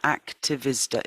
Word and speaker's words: Aktivisda: It's extinctionrebellion.activisda.earth, and Activisda is spelt AKTIVISDA.earth.